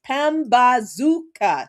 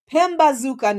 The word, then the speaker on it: Pambazuka: I always mispronounce this. Pambazuka News. There it is. Pambazuka News.